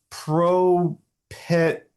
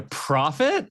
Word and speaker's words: Prophet: this thing called a Pro Pet 2000? Wait, a prophet? A prophet Is that how you 2000? pronounce it? Yes, that's how you pronounce it.